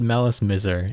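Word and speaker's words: Malice Mizer: We decided Malice Miser is the most reasonable pronunciation. Yeah, we decided on on Malice Miser, because it's like a sort of like version of like Malice and Misery.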